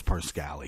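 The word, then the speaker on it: Parscale: trump campaign poor brad pasquale i like to say parscalli i think it really is parscali he doesn't know how to pronounce his own name really come on brad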